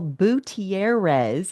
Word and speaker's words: Butierez: Daniel Butierez is how you say his last name, you gringo.